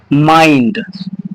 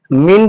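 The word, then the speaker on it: mind: जब आई के बाद एन डी है तो इस आई को हम किस तरह उच्चारण करेंगे? आई की तरह उच्चारण करेंगे। ठीक है? आई की तरह उच्चारण करेंगे। तो इस वर्ड को हम पढ़ेंगे माइंड। क्लियर? मिड नहीं पढ़ना है। मिड पढ़ोगे तो गलत हो जाएगा।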